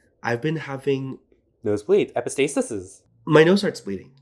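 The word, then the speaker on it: epistaxis: CUNY okay please epistasis but it's e p i s t a x i s oh The X just pronounce as a s mhm it's basically the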